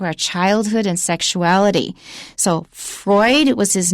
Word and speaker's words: Freud: childhood and sexuality so freud was his name and the adjective is freudian f-r-e-u-d it's german that's why i pronounce it freud i-a-n at the end